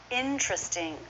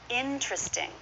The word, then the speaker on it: interesting: or in truth sting you might hear a true T instead of the CH though the CH is more common interesting or interesting now occasionally you'll hear a native speaker make this four syllables and in that case there's a good chance you're not going to hear that T at all interesting it's common to drop a T after n so that's what happens